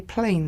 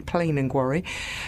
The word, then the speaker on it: Plen an Gwarry: Although I keep trying to say plain these days because that's in Cornish dialect. That's how it's said, really, Plen in Gwarry.